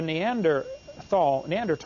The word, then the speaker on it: Neanderthal: By the way, in case you don't know, the Neanderthal, the H is silent, Neanderthal man is named